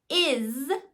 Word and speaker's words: is: chant to it or if they are learning the word is and they haven't learned that the S can represent the z sound so that's going to be irregular for them is when they get to that it sounds like Z it's spelled with s so just using that